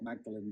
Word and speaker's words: Magdalen: This is a replica, a replica of what's called P64, which we saw at, they call it Magdalen College, it's spelt Magdalen, but at Magdalen College in Oxford.